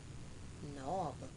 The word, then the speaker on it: knob: Knob, K-N-O-B, knob.